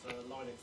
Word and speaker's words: Linux: Obviously, gave out the WAV file, famously to say, hello, my name is Linux to Valves, and I pronounce Linux.